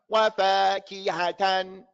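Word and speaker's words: وَفَاكِهَةً: I want you to put emphasis on this ha.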